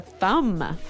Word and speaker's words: thumb: so the pronunciation here do you say the b at the end of this word no I actually only pronounce the M the thum the thumb